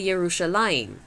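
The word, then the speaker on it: ירושלים: You don't say Jerusalem in Hebrew, you say Yerushalayim. A very different sounding word.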